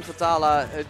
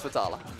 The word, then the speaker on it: Vetala: the taluk how long I'm gonna go with vittala with the English pronunciation potala potala ah so